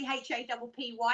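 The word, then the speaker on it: Hapy: It's not actually H-A-P-P-Y, it's H-A-P-Y, and it's happy is how it's pronounced.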